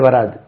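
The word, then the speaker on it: were: இப்படி பவுனடிக்ஸ்ல இப்படி எழுதுவோம் இது உச்சரிப்பு வர் தேவர் என்னமோ தே வேர் வெயிட்டிங் அவுட்சைடு வேரே கொண்டு வந்துட்டாங்க தே வர் தேவர் வெயிட்டிங்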